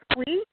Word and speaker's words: Squee: Could you spell that? Sure. It's Squee.